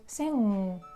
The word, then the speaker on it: sing: However, with the word sing, you don't touch your upper teeth and you kind of like block your throat, and the sound should go through the nose because this sound is called nasal sound because you pronounce with the nose.